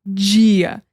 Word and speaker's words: dia: Like very soft, you know, like Portuguese, it's like dia is day. You know, in English we say day with a hard D. In Portuguese we say dia. In Spanish it's like dia. It's like the tongue with the teeth, like dia. Like it's like so soft. Dia. It's like you barely even hear it, you know?